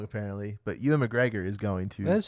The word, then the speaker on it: Ewan McGregor: is playing black mask see i say his name wrong apparently but ewan mcgregor is going to that's how you say it